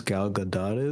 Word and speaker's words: Gal Gadot: movie starts the first let me see the first third was basically look how gorgeous gal gadot is that's how you pronounce her name and then look how